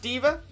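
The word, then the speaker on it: D.Va: by girl at the minute uh and yes pronounced diva she's actually a super high profile professional gamer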